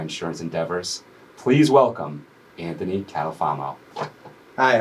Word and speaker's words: Catalfamo: Partners in my insurance Endeavors please welcome Anthony catalfamo Hi how are you welcome Anthony thank you